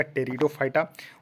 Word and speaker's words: टेरिडोफाइटा: देखिए Thallophyta bryophyta टेरिडोफाइटा यहां देखिए पीस साइलेंट है तो इसको पढ़िएगा टेरिडोफाइटा उसके बाद यहां पर